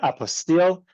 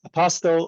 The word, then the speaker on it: apostille: may not have heard the word apostille um or as it's sometimes pronounced apostel or some of my who call it apos or other names for it um it becomes